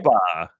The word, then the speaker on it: OPA: It's pronounced Okay. OPA.